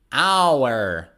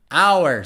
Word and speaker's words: hour: when another example is hour hour so the first h is silent hour i studied for